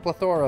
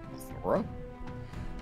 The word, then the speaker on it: plethora: We have a plethora of options for when we inevitably mess up. Plethora? Plethora. What? Plethora. I mean, same thing. You're just putting the emphasis on a different syllable.